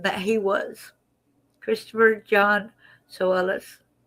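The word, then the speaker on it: Tsoulos: Christopher John Solis. The T is silent. They said you pronounce it like so then o hs so so.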